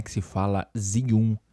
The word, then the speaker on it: Zhiyun: Zum em chinês e não é zun, não é zion, como alguns de vocês falam aí do inglês, né? Deixando o negócio com a pronúncia do inglês.